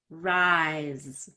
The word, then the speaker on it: rise: Rice, rise. So the rice is an S sound, and the rise looks like an S, but it's a Z sound.